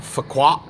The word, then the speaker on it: Phu Quoc: in Vietnam, pronounced spelled Phu Quoc, and I've heard it pronounced Phu Quoc and also Phu Quoc, and the second one was actually from a Vietnamese person.